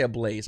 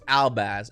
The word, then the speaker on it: Albaz: Fallen of Albaz, I always want to say Ablaze. I want to say Ablaze so badly, but that's not how you say it. It's Albaz.